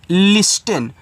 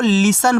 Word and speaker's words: listen: देखो अब जिनको नहीं पता इसको पढ़ेंगे लिस्टन। भैया लिस्टन आपका गलत है, इसको लिसन पढ़ते हैं। क्या पढ़ोगे? लिसन, ऐसे ली सा और ना, लिसन।